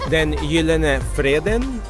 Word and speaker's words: Den Gyldene Freden: John, how do you pronounce this place? Which place? Oh, den Gyldene Freden.